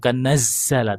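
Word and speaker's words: نَزَّلَ: Kalau untuk makhrajnya huruf Z-nya terlalu banyak anginnya. Ya, bukan nazzala, tapi nazzala. Nah, Nazzala. naz. Nazzala. Itu masih anginnya masih ngosos banget itu.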